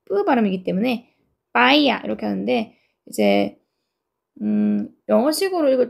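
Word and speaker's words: paella: 여기가 피 발음이 아니고 빼 뿌음이기 때문에 빠이야 이렇게 하는데 이제음 영어식으로 읽을 때는 발음이파엘러라고 읽더라고요.파러 이렇게 읽죠.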